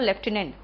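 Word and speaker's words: lieutenant: Colonel में आर नहीं होता और लेफ्टिनेंट में एफ नहीं होता। इससे सही प्रोनाउंसिएशन है तो कर्नल और लेफ्टिनेंट।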